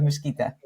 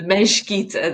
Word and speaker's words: Mesquita: Welcome, de Mesquita. Thank you very much. Thank you for having me, and thank you for pronouncing my name correctly, because so many people don't do the Mesquita, they do the Mesquita, so thank you.